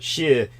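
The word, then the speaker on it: 四: Yeah, I mean, basically in Asia, both Japan and China, 4 rhymes with shi, or rhymes with death.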